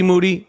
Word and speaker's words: Moody: See, this is why, a.k.a. Moody, rhymes with duty, was the 2015 podcast co-host of the year.